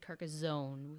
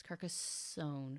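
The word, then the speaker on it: Carcassonne: carcassone I love carcassone I also mispronounced that apparently I said carcassone with a zed it's carcassone carcassone I it's in my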